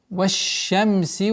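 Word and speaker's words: والشمس: Ваш-шамси ва духаха. Так как шин у нас является солнечным звуком, с согласовки вау переходим на шин и применяем свойство тафаши. Ваш-шамси. Не ваш-шамси, ваш-шамси. Полноценное произношение удвоения шина.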